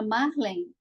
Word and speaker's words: Marlen: e vou chamar agora Marlen eu não sei se é Marlen Marlen eu acho que é Marlen mar vereadora pelo pt em Coronel Fabriciano acertei Boa noite acertei seu nome mesmo pronunciada Obrigada mar